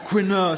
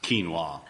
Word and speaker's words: quinoa: I mean, I love their quinur salad. Uh, but it's it's it's actually pronounced quinoa.